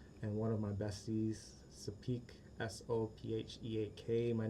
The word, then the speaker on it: Sopheak: ex, Sapi, SOPHY, and one of my besties, Sapik, SOPHEAK. My name is pronounced Sapunya Rafiki Ho's baby Simba above Pride